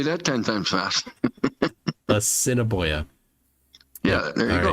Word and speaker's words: Assiniboia: Assiniboia.